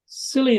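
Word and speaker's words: Scilly: the west coast of of England called the silly Isles or the Isles of silly it's spelled s c y and um I moved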